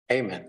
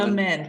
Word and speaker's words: Amend: amen pronounce the eight amen yes okay if I've been saying um amend which is how it's spelled okay amen my first